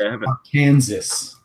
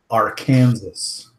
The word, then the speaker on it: Arkansas: It's pronounced Arkansas. Arkansas.